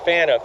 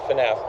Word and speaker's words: Phaneuf: Now, it's pronounced Phaneuf here, but we pronounced it Phaneuf, where I come from.